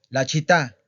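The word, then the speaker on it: città: La chita. La chita. Ojo con la pronunciación. La chita. ¿Ok? Vean cómo estoy remarcando, ¿verdad? Esta A que está acentuada. La estoy remarcando.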